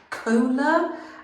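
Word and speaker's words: Kohler: Now, this brand is Cola. I think that's how you pronounce it. K O H L E R.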